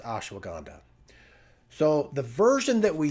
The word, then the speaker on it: ashwagandha: hanga if you did it phonetically so it's pronounced ashwagandha so the version that we use is very